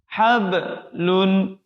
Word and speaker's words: حبل: Hablun. Qalqalah lagi. Nah, qalqalah di tengah huruf ba sukun itu tidak boleh putus. Jangan sampai kita membacanya putus. Hablun. Tapi mengalir saja.